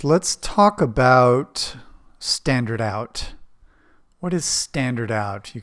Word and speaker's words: stdout: right let's talk about standard out what is standard out you can see I'm using this name right here standard out which we pronounce standard out standard out is the